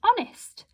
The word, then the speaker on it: honest: a silent b no so does it have a silent h yes it does this is our silent letter here because we don't say i am very honest we just say i